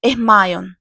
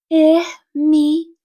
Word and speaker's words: Hermione: Hermione agora ensinava Krum a pronunciar o seu nome corretamente. Ele não parava de chamá-la de Hermon. Hermoni, disse ela lenta e claramente.